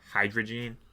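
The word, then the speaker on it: Hydreigon: say this guy's name hydrogen hydrigan I I'm assuming I say it wrong every single time yeah it's just hide like H2O like hydrogen like that so it's hide and then region so hydrogen or wow I can't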